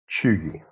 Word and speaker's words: cheugy: lastly it's just chewy I had to check how to pronounce that because it doesn't immediately spring to mind does it that it's chewy it could be something